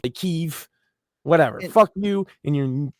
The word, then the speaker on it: Kyiv: Or Well, now and like it's not Kiev anymore. It's like Kyiv.